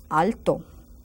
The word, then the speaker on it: alto: is tall ala Alto Al sounds like I have an accent there but there is none because the O is already strong enough Alto ala and let's